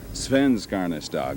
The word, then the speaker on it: Svenskarnas Dag: They said, "Put the emphasis on the first syllable." Is that right? Sven. Svenskarnas Dag.